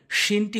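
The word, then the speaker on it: ش: শিনটি হচ্ছে জিমের মতো, দেখবেন জিমের উপরে 5 লেখা রয়েছে, শিনও 5 লেখা রয়েছে, দুটি সেম উচ্চারণ হয়, একই জায়গা থেকে উচ্চারণ হয়, জিহ্বার মাঝখানটা উপরের তালুর সঙ্গে। শিন শিন শিন শিন।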